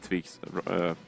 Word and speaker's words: Tvik: I even said Tvik's name wrong now. Wow. On the desk. Wow. It's Tvik. It's Tvik. I'm just going to make that clear, right?